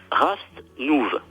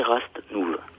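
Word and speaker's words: Rastnûv: un mot, le mot Rast-Nouv. Ça s'écrit. R-A-S-T-N-U-V. Rast-Nouv. Avec un accent circonflexe sur le U parce que ça se prononce OU. Ce qui fait Rast-Nouv. Rast-Nouv.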